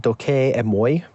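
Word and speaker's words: δοκεῖ μοι: Doki imi, or the Erasmians would pronounce it doke emoi, means it seems to me, it appears to me.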